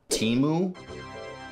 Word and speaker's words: Temu: it is called Daddy I want you to pronounce that Teemu wow you actually pronounced it right did I